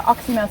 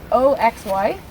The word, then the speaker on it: oxymel: But How do you spell that? oxymel, so OXYMEL.